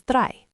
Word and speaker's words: drei: Again, I like I, drei.